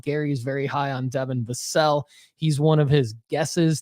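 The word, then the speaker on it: Vassell: you can make money Devon vasel uh not vassel Chad Devon vasel I believe is how you say it um put up 25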